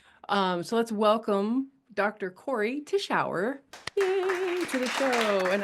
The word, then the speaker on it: Cory Tichauer: Corey Tishau. Yay. To the show. And I pronounced it properly, so that's a double yay.